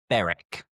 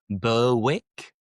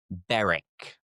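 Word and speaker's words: Berwick: We have beric. Beric. And this is similar to the previous ones as well where we don't pronounce the W. So you don't have wick. It's not burwick as it almost should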